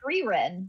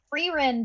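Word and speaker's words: Frieren: AA recommended Arcane to him Arcane no uh freen oh frein Beyond Journey's End and that's spelled f i f r i i e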